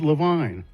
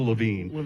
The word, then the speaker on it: Levine: And he said, Ted Levine. Wow. And I said, what? What? What? You're kidding. He said, "No, Ted." Or is it Lavine? I I can never remember. I think it's the Lavine.